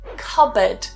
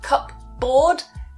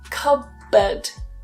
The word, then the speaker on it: cupboard: For example, cupboard. So not cupboard, cupboard. Cupboard. The P is completely removed. Cupboard.